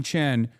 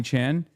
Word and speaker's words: Chan: it was just Connie Chen versus Scott Weiner, I still think Scott Weiner wins, right? Stop saying Connie Chen. It's Connie Chan.